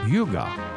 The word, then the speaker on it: hygge: and its importance today h y g g e it's it looks different than it sounds Yuga it's a Danish concept let's come back and